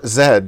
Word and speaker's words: Z: Z foreleg zebra but we were taught to say Zed like shed so then I was